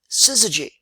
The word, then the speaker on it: syzygy: meaning of the word syzygy which was kind of a cool word it has six letters three syllables and quote no vowels if you don't count y as a traditional vowel so what is a